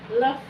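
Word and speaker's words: œuf: अब देखिए अंडों को हम फ्रेंच में क्या कहते हैं, अंडों को हम फ्रेंच में कहेंगे लफ, लफ। Okay, the pronunciation of this mixing of OME इज ओ, लफ।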